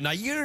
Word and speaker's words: Nayyar: you know is it ner is that how you pronounce yeah it's like it's like actually in India you pronounce it n like mayor like Mayor John Mayor